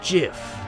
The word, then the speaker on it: GIF: your head like a gif it's not the truth it's pronounced Jiff huh dot Jif like the peanut butter the Creator said so that's dumb it's Graphics